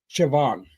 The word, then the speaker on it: Siobhan: There's like there's an Irish name, Siobhan. Yeah. Which is spelled S I O B.